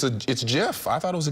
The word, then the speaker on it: GIF: But the creator of GIF says it should be pronounced with a soft G. So apparently I'm not right. The jars are being sold on Amazon. Is it GIF or is it Jif?